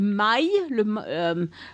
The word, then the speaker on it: maille: They also have this thing called a maille.